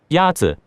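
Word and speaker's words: 鸭子: Yazi. Is pronounced with a first tone.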